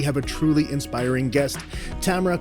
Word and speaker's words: Tamara: bit about yourself sure my name is Tamara uh rhymes with camera I always throw that in there because and still doesn't matter someone will still call me Tamara but that's okay I'll